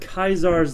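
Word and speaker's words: Caesar: It's not Kaisar's Legion, and yes, I said Kaisar, that's how it's pronounced in-game, but the NCR, there we go.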